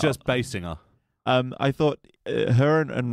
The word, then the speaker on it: Basinger: God now I can't tell which way to pronounce it does she sing tenner no she sings bass yeah you're saying bass singer but you're not putting that much emphasis on